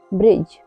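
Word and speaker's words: bridge: आई डी जी ई ब्रिज ब्रिज में भी डी के बाद जी आया हुआ है इसलिए यहां पर डी साइलेंट है बी यू डी जी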